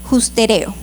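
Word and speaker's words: ὑστερέω: Y esta palabra de destitución en griego es una palabra que se pronuncia de la siguiente manera: justereo, que también puede traducirse al español como que al hombre le falta alcanzar algo.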